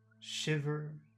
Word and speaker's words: shiver: of that phrase makes shiver make them bigger make them longer makes let's say Makes You Makes You Makes You Makes You shiver shiver sh that's the accented syllable it's bigger than ver shiver makes you shiver